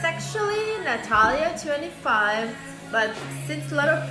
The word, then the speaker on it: Natalia: It's actually Natalia25, but since a lot of people don't know how to really pronounce or spell my name because I have a silent J, I'm gonna write it down.